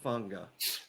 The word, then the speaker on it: Fanga: Yeah, you're going to correct my pronunciation. Isaiah Fanga. I think that's exactly right. Hey, wow, that's pretty good. Even sick. Isaiah Fanga.